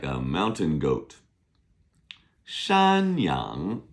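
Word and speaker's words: 山羊: Shanyang is like a mountain goat. Shyang. Shan is mountain. S h a n first tone. Yang is y a n g second tone.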